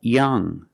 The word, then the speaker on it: young: take a closer look when you you see NG at the end of a word it makes a nasal sound it makes a sound in your nose like this there's no G sound when you see NG at the end of a word it makes a sound like young strong and working when